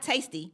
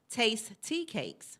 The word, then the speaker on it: Taste Tea Cakes: So not tasty, it's Taste Tea Cakes.